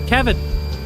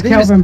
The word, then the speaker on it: Kelvin: Oh my God, we've got Kevin. Kevin, listen to me. It's Kelvin.